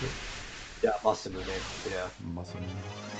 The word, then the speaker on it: Masamune: Is that how you pronounce it? Yeah, Masamune.